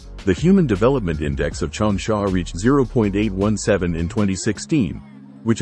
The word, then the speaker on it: Changsha: Chong Sha is the pinion romanization of the Mandarin pronunciation of the Chinese name Jong Sha or Jong Sha meaning long sandy place.